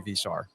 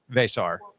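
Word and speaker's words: Veesaar: I have to pronounce Henry Visar. Vesar Vesar. There it is. Vesar. Like a kiss. Yeah. I don't know. Just not like the Spaniards with the B.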